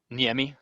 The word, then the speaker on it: Niemi: yeah yeah okay and what's your last name yemi it's a finished last name nice okay well nice